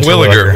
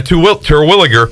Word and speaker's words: Terwilliger: When you look at the pitchers used in game one, Ben Terwilliger, I can't say Terwilliger. His name. Terwilliger. Yeah, it's three syllables in there. Terwilliger.